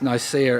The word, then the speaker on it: Nicaea: And I've got to tell you that the way we pronounce Nicaea is the English pronunciation.